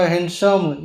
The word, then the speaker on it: handsome: So handsome is silent, D is not pronounced.